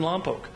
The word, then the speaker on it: Lompoc: People getting out of their cars, getting into rapid transit, because I live in Lompoc, it's pronounced Lompoc, to get in the